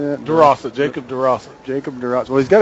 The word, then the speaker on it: Durossette: Durossette, Jacob Durossette.